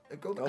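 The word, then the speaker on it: Guoba: Goba? How Goba? do you say his name? Goba? Gooba? No, it's not Gooba.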